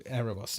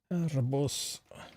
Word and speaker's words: Aerobus: Aerobus. Is it meant to be? Do you say that the B with a V? Is it Aerobus? To give it proper Greek pronunciation.